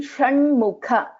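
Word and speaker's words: षण्मुख: In Shanmukha, this is Sha. So this is Murdhanya Sha. So Sha and Sha. Shiva, Shanmukha.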